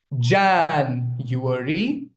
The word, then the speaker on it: January: It's a 4-syllable word. You might not notice it, but there are 4 vowel sounds in it. Jan, 1, U, A, re, E at the end. That's why it is a 4-syllabic word. But the stress is on the first syllable. January. Okay? That's how you pronounce it.